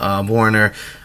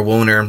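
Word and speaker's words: Woerner: a butcher his name I think it's how you say his name Warner w OE R Warner wo e ER and ER out of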